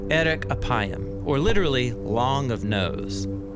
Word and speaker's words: 'erek 'appayim: In Hebrew, the phrase slow to anger is pronounced erek apayim, or literally long of nose.